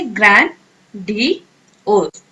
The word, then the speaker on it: grandiose: ठीक है, प्रोनाउंस कैसे करेंगे इसे, ग्रैंड डी ओस।